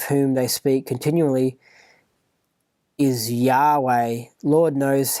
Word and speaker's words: Yahweh: So Lord knows how this word is to be pronounced, but the more agreed upon pronunciation amongst scholars, so they can talk about it, is Yahweh, and this is a